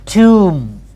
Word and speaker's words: tomb: it's a sixth convention final bill after moon it's normally silence final bull after more is normally silence normally silence so that's why we have tomb we never said tumors